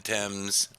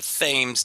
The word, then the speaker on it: Thames: monster living in the Thames. I'll even say it right just for you. It's not the Thames today; it's gonna be the Thames.